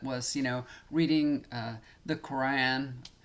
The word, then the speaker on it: Quran: you know reading the quran i know y'all say quran we say goron he says goron so i say it like he does goron and i would all